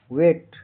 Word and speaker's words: weigh: WEIGH का उच्चारण pronunciation वेट। यहाँ EI का उच्चारण AE लंबी ए की तरह होता है। GH साइलेंट मुख होता है।